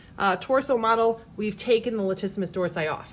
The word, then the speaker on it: latissimus dorsi: with the muscle called latissimus dorsi lat rhymes with flat it's a wide flat